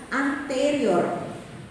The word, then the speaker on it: anterior: Bukan anterior. Anterior. Jadi cara pengucapannya begitu ya. Tulisannya sama ya, tulisannya sama. Anterior. Tulisannya sama. Sama tulisannya, tapi kalau cara pengucapan bahasa Latin itu kita penekanan 3 suku kata dari terakhir ya. Jadi anterior, posterior, bukan posterior.